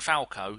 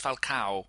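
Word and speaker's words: Falcão: And if you're if you're presenting Sky Sports, could you stop saying Falco? It's not Mark Falco, it's Falcao. It's got an A at the end of it.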